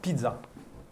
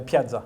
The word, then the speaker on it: Piazza: Isuzu Pizza. Ah, ouais, je l'avais pas. ça. Non, c'est la Piazza.